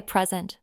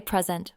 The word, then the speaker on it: present: For example, the word present. If I say present with the stress on the first syllable, it's a noun meaning a gift. I got a lovely present for my birthday. But if I say present with the stress on the second syllable, it's a verb meaning to give or show something.